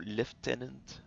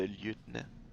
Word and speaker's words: lieutenant: ils disent toujours lieutenant au lieu de lieutenant? C'est lieutenant, pas lieutenant.